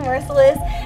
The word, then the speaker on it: Mercilus: joined with someone's name I know how to pronounce correctly, Whitney Mercilus.